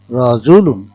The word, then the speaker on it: রজুলুন: পেশ লাম দুই পেশুন রাজুলুন এর উচ্চারণ হবে রজুলুন রজলুন এর মত অর্থাৎ লাম হরফের তানবিনের বদলে লামের উপর পেশ ও নুন সাকিন পড়া হয় নুন সাকিন ও তানবিনের